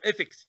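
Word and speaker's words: ethics: التي اتش ثاء، حرف الثاء في العربي، انت راجل مصري عندك عربي عندك حرف الثاء، مش عارف تقول ايثكس، لا مش عارف تقول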